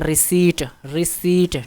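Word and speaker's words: receipt: अच्छा, इसमें इसको पढ़ते हैं रिसीट, ठीक है। पी इसमें क्या है, साइलेंट है, उर्दू में इसको रसीद कहते हैं।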